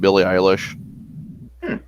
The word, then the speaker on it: Billie Eilish: Like Yeah, this is what they call those types of music that guilty pleasure, like the old Billie Eilish.